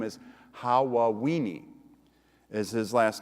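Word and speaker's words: Hawaweeny: aw ee NY which if you say it too fast it sounds like Halloween has actually his last name is how well we need is his last name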